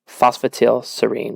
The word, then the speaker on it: phosphatidylserine: with fosterville serene okay this one right here phosphatidylserine that's how you say it um you gotta